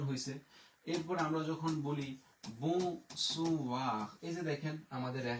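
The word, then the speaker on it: blanc: সাদার ফরাসি হচ্ছে ব্লং। এখানে কিন্তু আমরা সের উচ্চারণ করি না।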